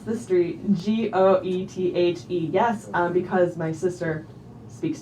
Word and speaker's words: Goethe: Can I please pronounce the street G-O-E-T-H-E?